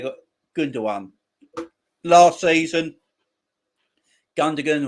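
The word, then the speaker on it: Gündoğan: good one last season gundam or gundagan or whatever you want to call him and so many pronunciations commentators calling different things all the time i say gundagon because that's the way it's spelt he was um tremendous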